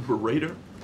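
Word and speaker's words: Baradar: Robert, is that authoritative, the way you're pronouncing his name, Berater?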